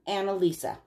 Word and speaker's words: Anneliese: the chair okay so I'm gonna call her annalisa that's how she pronounces it okay so Anna Lisa